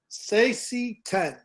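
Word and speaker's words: Saesee Tiin: Sassy 10 is pronounced.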